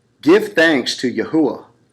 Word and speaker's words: Yahuwah: wha hey now again there is a correct pronunciation to that so it isaiah 42:8 reads I am yahuwah that is my name